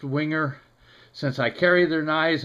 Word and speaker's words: Wenger: And just as a note, so I don't get a whole bunch of ugly emails, the company name is actually pronounced Wenger.